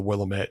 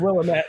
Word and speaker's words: Willamette: It's like right on the banks of the Willamette, and you could potentially the Willamette. But I love that you said Willamette.